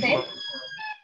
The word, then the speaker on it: tagliatelle: Le mot tagliatelle, par exemple, s'écrit depuis Tagliatelle. Le G ne bouge tagliatelle.